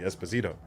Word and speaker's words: Esposito: Because in Spanish, if I'm not mistaken, the second to last syllable of a surname is typically the one with the inflection, so it would be Esposito.